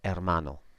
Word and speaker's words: hermano: erreur mono and again you got that H which I've put in red is silent hermano okay so it's pretty